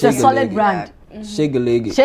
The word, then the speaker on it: Shegeleke: Shegeleke just the way we are pronouncing it. S H E right? Yes. G G E L E Yeah. Hey, Shegeleke.